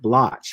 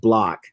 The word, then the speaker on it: Bloch: pronounced Bloch, but it's Bloch. spelled Bloch.